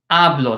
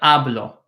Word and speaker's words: hablo: talk or I speak yo hablo yo hablo HSN silent HS in Spanish are silent so this H is not pronounced it is not your